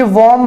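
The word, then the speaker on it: womb: ये वॉम्ब है, इसको बॉम्ब ना प्रोनाउंस करें, वॉम्ब टू टॉम्ब।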